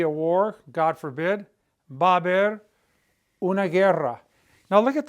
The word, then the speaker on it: haber: The H is silent, so you have a V and you have 1, 2, 3 A's in a row. And then you have bear. You know, when you pronounce that word, it's just 2 syllables, ba bear.